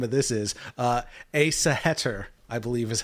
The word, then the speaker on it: Æsahættr: Æsahættr, I believe is how you say it.